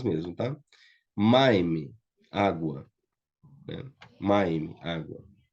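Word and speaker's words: מים: Maime, água. Né? Maime, água. Então, maime também, a tônica é a primeira sílaba aqui, a primeira consoante, né?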